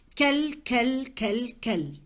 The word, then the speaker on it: quel: We pronounce the four the same. I don't have any difference between the pronunciation of the four. Kel.